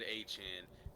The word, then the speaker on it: Etienne: Okay, for the people that don't know, Travis Etienne, he was pronouncing his last name at his introductory press conference, and he said Etienne.